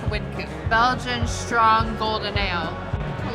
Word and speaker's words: Wynkoop: The name of the brewery is pronounced Wynkoop, but the street it's on is Wynkoop, but it's spelled the same. But they didn't want wine in the name, so they changed the pronunciation to Wynkoop.